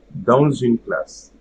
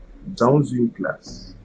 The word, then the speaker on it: dans une classe: Okay, I will just pronounce all of them together. So, dans une classe. Dans une classe. Un enfant. Un enfant. Des habits. Des habits. Okay? So there should be no pause between the pronunciation of the first one and the second one, but the first word pronunciation is usually not going to change.